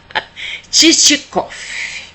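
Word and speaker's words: Чичиков: Titicof com um v no final que tem um som de f e quando a gente pronuncia.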